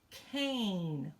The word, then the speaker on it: cane: of one with a silent e on it whoo I should have done can because I'm gonna start out with tan but I'm going to add that e that's silent e so that is cane with an a sound there very good okay all